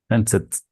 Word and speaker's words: fenced: Fenced. The last sound is S, so it's an unvoiced consonant. It sounds like a T.